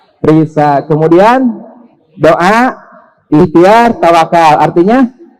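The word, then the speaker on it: RISSA: R-I-S-S-A, dibacanya Risa.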